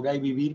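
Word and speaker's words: gai vivir: libro del gay vivir pronuncio gay vivir porque es del occitano el G de galla gallo incluye algunos poetas con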